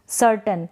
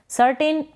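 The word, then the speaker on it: certain: सर्टन, इसको आप सर्टन पढ़ेंगे। AI का यहाँ पर उच्चारण अ के रूप में हो रहा है, यानी कि AI को हम अ प्रोनाउंस कर रहे हैं। सर्टेन प्रोनाउंस करते हैं, इसको पढ़ते हैं, बट करेक्ट है सर्टन।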